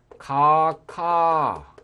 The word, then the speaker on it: 각하: 이것은 가카 이렇게 발음을 합니다. 대통령 가카 이렇게 발음하죠. 그러니까 구태여 각하 이렇게 각하 이렇게 발음을 할 필요가 없다는 거죠.